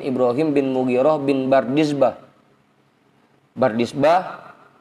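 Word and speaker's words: بردزبه: Bardizbah baknya difathahkan, roknya sukun, dalnya tanpa titik dibaca kasroh, zainya sukun, baknya fathah, dibacanya Bardizbah.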